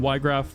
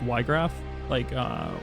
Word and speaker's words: Wiegraf: I always pronounce it like Wiegraf, which is like a more German, like Wiegraf, like a German pronunciation.